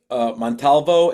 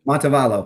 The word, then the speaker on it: Montevallo: Was Montalvo? Is that how you pronounce it? Montevallo, Montevallo.